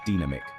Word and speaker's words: dynamic: The pronunciation is dynamic, with the stress on the second syllable.